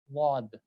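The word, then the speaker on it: ض: The place where you pronounce this sad, sad, wad, sad, wad. From the same place, applying the Z, a little bit of Z on this, you will get to the pronunciation of wad, inshallah.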